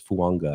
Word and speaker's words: Fuaga: yeah you go a there's like an n in fuaga it's like the Tonga vioa there's an n in there it's fanga I'm pretty sure is how you're supposed to pronounce that one too we'll get to